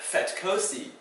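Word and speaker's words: vetkoek: The F sound is usually spelled with a V letter. So words like vetkosi or veldskoot, it's not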